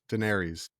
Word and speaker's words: Daenerys: Daenerys.